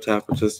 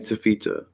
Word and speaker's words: Taffeta: Had a feeling I was saying it wrong at first. Taffeta. I was saying Tafita.